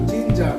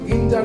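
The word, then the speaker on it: ginger: সুন্দর জিঞ্জার তাই না জিঞ্জার দেখো জিতে শুরু হচ্ছে কিন্তু আমরা কিন্তু জিঞ্জার বলছি না জিঞ্জার কেন জি এর পরে কিন্তু আই আছে আমি এটাই বলতে চাইছি যে জি এর পরে ই আই এবং ওয়াই যদি থাকে তাহলে তোমরা কখনো জি এর উচ্চারণ গড়বে না কি করবে একটু জবাব করবে ওকে তারপরে জিম জি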